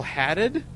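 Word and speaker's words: Haddad: evil 2 it was Paul hadded I believe that's how you pronounce his name and the connection between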